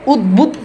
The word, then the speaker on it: উদ্বুদ্ধ: যেমন উদ্বেগ এখানে দেখেন ব আছে উদ্বুদ্ধ। এখানে দেখেন ব এর উচ্চারণ রয়েছে।